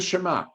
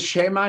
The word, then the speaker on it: Shema: Okay, so if you notice, it says Shema instead of Shema, the accent on the beginning syllable, and the again, ayin